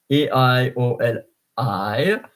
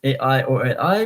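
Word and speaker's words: aïoli: of the first I, because else it would be aioli, because A and I in the combination is A, like aimant, A-I-M-A-N-T. But aioli, so the I, the trema on top of the I. So trema, please pronounce me separately.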